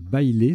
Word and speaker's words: baile: Le tirage suivant, là c'est un petit coup de vocabulaire, il faut connaître baile, ça se prononce comme ça, B-A-I-L-E, donc un E au bout de bail.